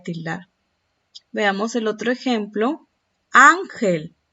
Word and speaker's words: ángel: Ángel. ¿Dónde está la mayor intensidad? ¿Dónde está el acento? En la sílaba an, la penúltima.